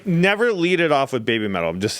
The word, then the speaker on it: BABYMETAL: You got to pronounce it like they do. So it sounds like you're saying heavy metal. Yeah. Oh, yeah. Like be metal.